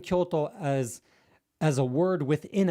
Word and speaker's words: Kyoto: old capital of Japan, Kyoto, it's pronounced like that with the accent at the beginningto.